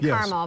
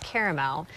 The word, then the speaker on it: caramel: I was saying it wrong. I said caramel, but it's caramel. Caramel's a place in California.